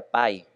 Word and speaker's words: pi: Algunos han reído, pero realmente en español no tiene gracia porque pi en inglés se pronuncia pi, que suena exactamente igual que tarta en inglés.